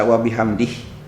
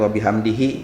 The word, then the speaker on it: wabihamdih: ini 9 rohmanir Rohim membaca wabihamdih boleh juga Andre pemirsa membacanya dengan wabihamdihi ya jadi dikasroh kan cuman ketika diwaqofkan gendang ujung itu aromanya jadi hilang dibaca Dibaca Subhan Robbi